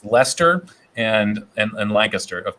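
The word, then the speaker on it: Leicester: to play i know i learned how to pronounce lester and and and lancaster of course uh appropriately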